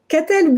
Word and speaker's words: Katell: Katel Berthelot. I'm trying. Correct me. How do you pronounce it? Katel Berthelot.